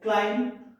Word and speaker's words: climb: So here in silent B letter words, there are certain words like climb, comb, dumb, and crumb. So these in these words, B letter is silent. So you don't have to pronounce B. You have to say climb, comb, dumb, crumb. Now silent C letter words like muscle.